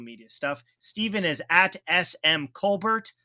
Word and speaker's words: Colbert: stuff Stephen is smm Colbert spelled like colar but you pronounce the T that will do it